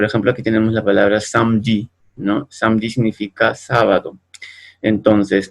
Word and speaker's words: samedi: Por ejemplo, aquí tenemos la palabra samedi, ¿no? Samedi significa sábado. Entonces, aquí esta E se escribe, pero no se pronuncia.